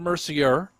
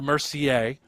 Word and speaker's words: Mercier: It's Jason Mercier and Isabelle Mercier. Spellings are the same, although you do say the names differently.